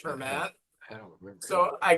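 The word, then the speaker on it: Germán: the twins Herman Gonzalez spell g e r m an pronounced her mat I don't remember so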